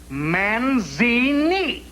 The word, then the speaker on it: Manzini: Manzini. Kind of rhymes with Houdini, don't it?